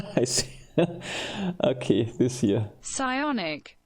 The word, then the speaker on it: psionic: The pronunciation psionics. Let's see. Pressionis. Yeah. So I see. Okay, this here. Psionic. You don't pronounce the P, right?